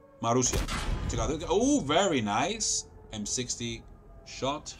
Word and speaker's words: Marussia: Marussia.